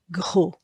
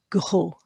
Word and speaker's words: gros: Now this O is an O sound at the end of a word because that's a silent letter. So it's not going to be the O sound. It's going to be the lady who's had a shock. O. O. O. O. So that is pronounced g, o, gros, gros.